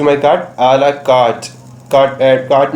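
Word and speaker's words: à la carte: हमारा next word है आ ला कार्ट. इसको हम, आर साइलेंट होता है, इसको हम आ ला कार्ट पर प्रोनाउंस करते हैं.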